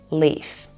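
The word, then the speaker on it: لام: and back which means leaf this one is called Lam and it's pronounced Le pretty much like L but there's a major difference between this one and the English l in English you guys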